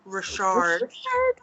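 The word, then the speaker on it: Ri'chard: And Jen's crush of her childhood, whom I just learned we pronounce it Robert Richard.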